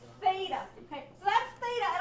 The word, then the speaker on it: theta: frog it's Theta like thick or thin I guess are two words that start with that sound right Theta okay so that's Theta